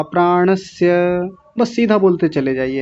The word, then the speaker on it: प्राणस्य: वा प्राणस्य, कई लोग तो इसी में गलती कर रहे हैं, प्राणस्य, प्राणस्य इसको बोल रहे हैं तालव्य शकार लगा करके, प्राणस्य नहीं, प्राणस्य, स ये वाला स बोलना है।